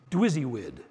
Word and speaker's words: DWYSYWD: willing to do this it's pronounced dizzy WID which stands for what would you guess do what you say you will do you know that word